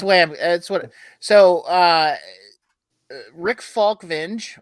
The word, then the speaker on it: Falkvinge: So Rick Falkvinge, or Falkvinga, as some people pronounce it, which is probably closer to how he actually pronounces it in Sweden.